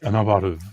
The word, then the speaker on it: innovative: No, man, stress on the second syllable.